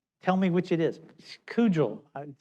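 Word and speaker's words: Kugell: Kugel. It's spelled K-U-G-E-L-L.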